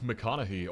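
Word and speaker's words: McConaughy: out in Nebraska is Lake MCC or apparently Lake Mech as locals say A 55.78 squ Mile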